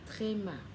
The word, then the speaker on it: tréma: Dấu hai chấm trên chữ ơ hay trên chữ ô là thì chúng ta sẽ đọc là tréma.